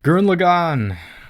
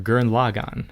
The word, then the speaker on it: Gurren Lagann: tier show because it's still it's still great guren lagann or gurren lagann as it's actually pronounced at least in the dub another show